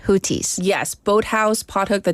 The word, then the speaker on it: Houthi: they claimed that it's HTI because the th is a t- sound it's like hooes yes Boat House pothook